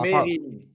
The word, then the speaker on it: Mesrine: Jack Ah, Mérine. Ça l'énerve quand on dit Mesrine, frérot. Pourquoi? Il y a un S.